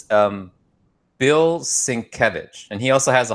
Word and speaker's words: Sienkiewicz: So it's Bill Sienkiewicz, and he also has a hard to pronounce last name, Bill Sienkiewicz.